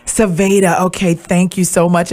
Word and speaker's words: Sevja: name for me sure it's pronounced Savannah okay thank you so